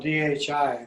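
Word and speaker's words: dhī: of the deity arises as d in sanskrit it's spelled d-h-i but d it means ultimate light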